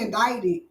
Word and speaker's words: indicted: I got to Google the difference because that don't say indicted.